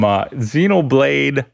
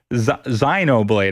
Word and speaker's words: Xenoblade: mytha mithra coincidentally it's available from xenoblade zyno blade i believe is the correct pronunciation chronic hell's toe